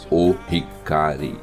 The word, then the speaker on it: Ohikari: É colocado o artigo O na frente do Hikari. Então, quando você se dirige ao objeto que é a Medalha da Luz Divina, você pronuncia o Hikari.